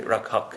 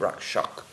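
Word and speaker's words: रक्षक: is that D when when the S comes after the K in Bengali then it becomes an H that's why we have Baki rakak sh Maharaj we have people say rakak instead of Rak Shak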